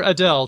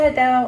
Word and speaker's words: Adele: The singer Adele took a question from a fan who pronounced her name with L vocalization, as in something like, I'll just play the audio here. Hi Adele, I'm Annie and I'm from London.